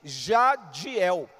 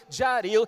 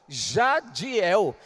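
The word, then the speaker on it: Jadhiel: meu nome de nascimento, Jadiel. E para complicar, tem um H entre o D e o I, J-A-D-H-I-E-L. Então você imagina os estrangeiros querendo pronunciar o meu nome, Jaril, até me chamava, ô senhor.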